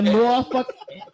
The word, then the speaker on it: Norfolk: it's The pronounced Norfolk.